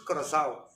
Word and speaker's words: coração: Kalau bahasa Portugis coração. Coração. Tulisannya C O R A, C yang ada ekor, A O, coração.